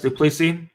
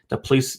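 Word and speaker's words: du Plessis: pick for sure uh driscus duplicity i think it's how pronounced i've heard it pronounced a million different ways but we'll say the police the pleisi i'll call him driscus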